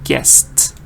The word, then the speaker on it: guessed: It has the ending te sound, and that helps you with the ed pronunciation of guessed.